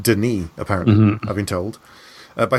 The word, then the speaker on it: Denis: is called Denis Villeneuve, it's not Dennis, it's pronounced Denis, apparently, I've been told, by someone who knows him.